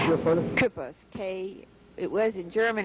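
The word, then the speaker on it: Küppers: Kripos, it was in German, it's spelled K-U with an umlaut, P-P-E-R-S, but we spelled it K-U-E-P-P-E-R-S.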